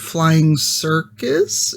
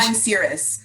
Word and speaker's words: Flying Cirrus: Flying Cirrus. Cirrus. Oh, I'm glad you know that. I've always Yeah. pronounced this Flying Circus. It's like a cloud, like a cirrus cloud.